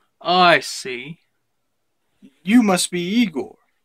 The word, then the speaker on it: Igor: see you must be Igor now it's pronounced I go but they told me it was Igor but they were wrong then one thing well